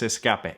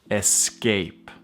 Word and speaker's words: escape: No es escape. Es escape. Escape.